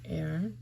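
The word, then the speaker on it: e'er: should err turn back so the word air means ever it's a contraction of the word ever it's defined here and in poetry they often do that to make it one syllable instead of ever I do not see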